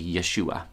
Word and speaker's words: Yeshua: one language to another jesus sounds very little like the hebrew name mary would have called out when it was time for dinner probably yeshua even if its origins lie